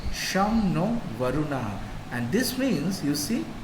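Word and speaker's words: शं नो वरुणः: is the emblem contains the motto some no varuna which is pronounced sham no varuna and this means you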